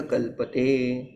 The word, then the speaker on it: क्लृप्ति: Know that is क्लुप्ती नॉट क्लुपी.